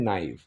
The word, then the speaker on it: naive: अब एक टर्म होती है नाइव, प्रोनाउंसिएशन क्या है, नाइव।